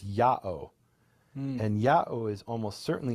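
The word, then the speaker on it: Ιαω: And then we have one Dead Sea Scroll where instead of Yud-Heh-Vav-Heh, they write it with the Greek pronunciation, which is Ya'o.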